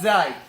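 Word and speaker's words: ز: First of all, to pronounce these 3 letters, you place the front part or the tip of your tongue at the lower teeth, at the base of the lower teeth, like this.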